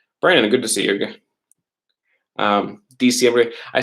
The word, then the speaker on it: diciembre: December would be December is diciembre. So it's actually spelled with an I after the D, right?